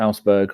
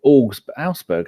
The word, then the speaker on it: Augsburg: rumours that Nketiah is going to go to Augsburg on loan. Or Augsburg, that's not what it is. It's how do you say AUG? Augsburg.